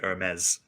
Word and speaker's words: Ermes: Anastasia's story with his girlfriend, Hermes, It's Hermes, I guess, but like if you were to say it properly, it'd be Hermes.